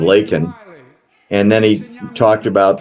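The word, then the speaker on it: Laken: And he said Lincoln instead of Lakin.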